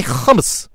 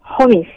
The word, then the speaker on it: hummus: Just say hummus. Homies. Okay. No. Hummus. Homies. No. Hummus. Okay, I don't know how to pronounce that word. Okay, actually. pretend like you're choking. Choking. Okay. Like hummus. Homies.